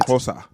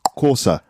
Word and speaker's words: Xhosa: I think XH is Ko.